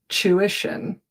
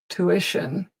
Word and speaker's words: tuition: In England, we begin with a ch sound. Chew. Tuition. Tuition. In North America, it's not a chew, it's a two. Tuition.